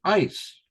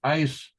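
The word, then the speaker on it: εἰς: Faith or belief and that's ice all right it's pronounced ice means to or into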